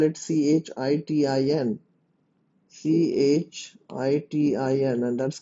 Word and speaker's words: chitin: prison made up of a nitrogenous polysaccharide called chitin and you spell it c-h-i-t-i-n c-h-i-t-i-n and that's called chitin nuclei is surrounded